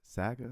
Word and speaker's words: Saga: Saga is this yes Saga that's how you say it's like Sega but with the a synth uh presets on